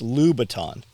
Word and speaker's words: Louboutin: She's like, it's Louboutin. I'm like, yeah, he can't pronounce Louis Vuitton.